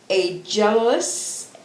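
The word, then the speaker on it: ἄγγελος: So what's really interesting is the word angel comes from a Greek word, and let's see if I can say it properly. Angelos. It's Aggelos.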